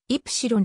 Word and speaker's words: Ypsilon: 後のリアビュー愛と書いて日本ではエプシロンと発音するランチ夜は伝統